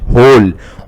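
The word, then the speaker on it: whole: ये this is बेटा we don't pronounce W, we pronounce H. होल, होल means complete, all.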